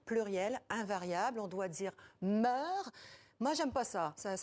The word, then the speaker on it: mœurs: La règle officielle est de ne pas prononcer le S final, même si mœurs est un nom féminin, pluriel, invariable. On doit dire meurt.